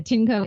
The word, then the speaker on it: Tineco: So again, it's the Tinco, and that's spelled TINECO.